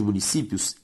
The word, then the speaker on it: municípios: A sílaba tônica de municípios, si, é a penúltima, ou seja, uma palavra paroxítona.